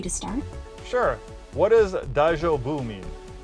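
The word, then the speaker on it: daijōbu: What does daijoubu mean? Daijubu means it's okay, or are you all right? Like when someone asks if you're fine after a stumble. Pronounce it dai-jo-bu.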